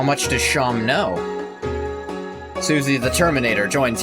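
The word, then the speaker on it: Seam: Welcome travelers about yourself name Sham pronounced Sham.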